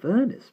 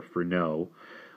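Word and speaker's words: Furneaux: furnace please Simon said hesitantly sir no if you please film no I cannot endure the English pronunciation dr. furnace or Ferno was hardly more than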